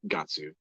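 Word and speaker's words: ガッツ: you know uh because the Japanese pronunciation of God's gatsu yeah oh thank you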